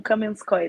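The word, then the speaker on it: Kamianske: Kamianski, esse é o nome da cidade? Sim, e pode ser pronunciado como Kamenskoye também.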